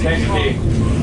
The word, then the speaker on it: Kankakee: How do you pronounce it again? Kankakee.